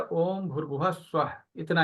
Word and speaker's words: ओम: को स्टार्ट करते समय ओम का उच्चारण करना है दीर्घ ओम अ उ म ठीक है और अपने